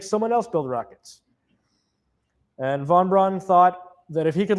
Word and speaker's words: von Braun: That's not my department, says Warner von Brown. It's not the German pronunciation, but you get the idea.